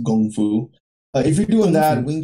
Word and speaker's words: kung fu: Like, whatever they're doing, like, let's say kung fu, or I think it's pronounced gong fu.